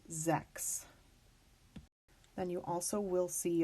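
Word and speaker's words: sechs: here though is that sometimes you'll see the spelling c HS at the end of the word and that is actually going to be pronounced with a k' so words like this is Zechs then you also will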